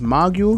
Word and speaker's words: mogul: Kanye is a business mogul.